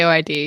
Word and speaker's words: AOID: album gets released 2015 aoid D or is it pronounced or the initials I that's what I say aoid yeah okay so aoid